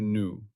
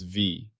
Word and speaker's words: nu: Its symbol is the Greek letter new pronounced new like new. I have mistakenly pronounced this as v. That was an error. It is new.